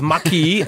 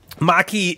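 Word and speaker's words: Maquis: It's spelled M-A-Q-U-I-S. So it's Maki. I'm guessing it's French.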